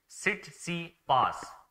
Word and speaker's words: Tsitsipas: सो इट्स Tsitsipas, ठीक है, T silent है।